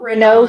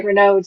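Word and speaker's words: Raynaud: that you have not Renault syndrome yeah that we're not we're nods I pronounced It the French way Reynolds yeah a little circulation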